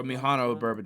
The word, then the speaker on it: Mihono Bourbon: Mhano Bourbon was so Mhano Bourbon.